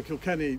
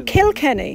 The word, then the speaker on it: Kilkenny: in kilkenny marble how'd you how did you spell that james k-i-l-k-e-n-n-y so kill kenny you know oh kill kenny kill kenny marvel yes is that irish then